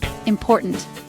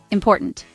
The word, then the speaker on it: important: Important. The stress is on the second syllable. Now say it after me. Important.